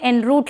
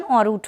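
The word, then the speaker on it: en route: Pronunciation इसका थोड़ा सा चेंज होता है, मैं दोबारा से ये वर्ड यहाँ पे लिख भी दे रही हूँ, ENROUTE, ये वर्ड का प्रोनाउंसिएशन रूट होता है।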